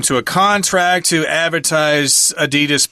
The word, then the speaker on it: Adidas: a contract to advertise Adidas products or Adidas that's how they pronounce it in Europe and so they had